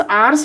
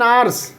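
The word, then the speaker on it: hours: He made dash आवर्स delay, ठीक है, he made, देखिए आवर्स है यहाँ पर एच साइलेंट हो जाएगा, एन आवर्स डिले, ठीक है।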